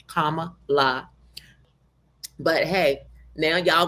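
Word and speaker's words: Kamala: women Hillary Clinton and kamla haris pronounce her name correct people comma LA but hey now y'all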